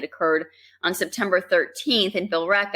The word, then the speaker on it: Billerica: And why is there a silent E in Billerica? It's so confusing. Billerica. I can't. You change the pronunciation every time you say it. Sometimes it could be Billerica. Some people say it Billerica, but it's just Billerica.